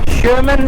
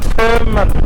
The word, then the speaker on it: Tønsberg: और इस जगह का नाम है शमन। शमन इसका प्रोनाउंसिएशन है। मैं पहले कहता था थमन थम एंड कल मैं